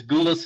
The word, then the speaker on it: Goulas: I just realized our last names are not spelled the same, but they rhyme. It's Goulas and Poulos.